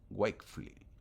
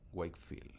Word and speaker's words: Wakefield: Joseph Wfley. Wakefley. Wakefield así se pronuncia.